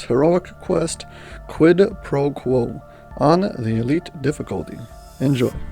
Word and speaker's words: quo: Basically, quid pro quo, I'll do you something and you'll owe me, you'll do me something. Quo is pronunciated kind of like you would say status quo.